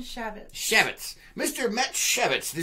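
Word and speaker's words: Chaifetz: How do you pronounce his last name? Shavitz.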